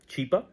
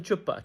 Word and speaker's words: Chipa: A humanitarian, his name is Chipa, Mr. Chipa, and she starts mispronouncing, and she calls him Chupa, and yeah, Chupa is.